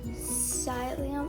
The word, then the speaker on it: psyllium: going to make our sileum i don't know plus um gel i figured out how to say this and it's psyllium husk so now i'm going